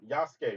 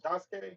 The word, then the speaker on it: Yasuke: You said it right the second time. Yasuke, right? What did I say the first time? Jasuke? I think I said Jasuke.